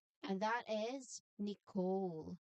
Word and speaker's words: Nicole: And that is Nicole. Silent letter is the letter E. So that is Nicole. Again, Nicole.